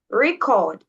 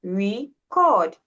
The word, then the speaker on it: record: Now, the first example I gave was this record and record. And this one, you see, it's the same word as you said. It's the same word. But now here we have record. Okay. Capital, capital E. So it means the stress is on re re.